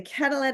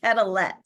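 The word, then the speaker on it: Quetelet: name correct corly because I think there's a French component in there it looks like calet um but I don't think we can pronounce the T but yeah absolutely he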